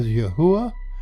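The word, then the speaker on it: יהוה: capital D is used the actual Hebrew equals yod he V he we pronounce that as yahua and it comes from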